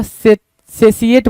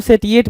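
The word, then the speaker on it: satiate: सेसिएट बोल सकते हो, या कुछ बच्चे इसको सेटिएट भी बोलते हैं, ठीक है। तो प्रोनाउंसिएशन हमारे और आपके हाथ में है भाई, तो हम सेटिएट बोलें, सेसिएट बोलें, बात बिल्कुल पते की होगी।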